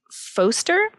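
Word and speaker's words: Phoster: really use it anymore it's called foster and I think it's supposed to be like font poster but it's spelled pH OS ter and you basically it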